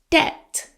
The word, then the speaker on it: debt: He paid off his debt. Silent B.